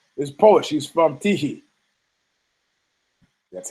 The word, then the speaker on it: Tychy: He's from Tychy. That's how you pronounce it.